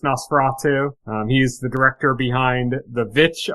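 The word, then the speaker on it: The VVitch: He's the director behind The Vitch, I'll say, instead of Witch, because it's spelled with two V's. The Vitch.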